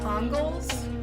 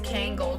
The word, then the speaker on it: Kangal: love anatolian shepherds or i think it's pronounced congols i don't think it's kangal because that sounds ugly and great pyrenees both